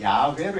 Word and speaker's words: 야훼: 근데 이것을 야훼라고 읽지를 않아요. 원래 이것을 읽을 때는 야훼로 읽는데 이렇게 요드 해 바브 해라고 쓰고 읽을 때는 아도나이로 읽어요.